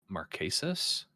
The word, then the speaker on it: Marquesas: I always mispronounce this season, but Marquesas? You got it. You nailed it. Dang. So Boston Rob was in Marquesas, All Stars, Heroes versus Villains, Redemption Island, and Winners at War.